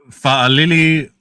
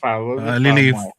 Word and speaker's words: Fa'alili: When you see that apostrophe, that's what you call it? Yes. So see how it's a that's how you say it. So Fa'alili. Fa'amoy. So whenever you see that in island names, yeah, Fa'amoy. Yeah. Okay. All right. So it's not Lily Moy.